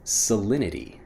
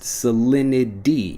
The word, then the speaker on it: salinity: of the conversation next salinity salinity when I'm pronouncing it fast salinity even though again we have that T sound salinity becomes salinity when we're pronouncing it quickly what's the salinity of